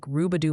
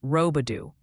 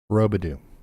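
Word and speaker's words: Roubidoux: Sounds like Rubadoo, Missouri is pronounced Rodu. Robadoo.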